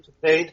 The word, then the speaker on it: Kitaen: Is that how the last name is pronounced? Tawny Kitaen, yeah.